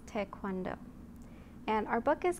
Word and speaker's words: Taekwondo: And a lot of people pronounce it Taekwondo, but the appropriate pronunciation is Taekwondo.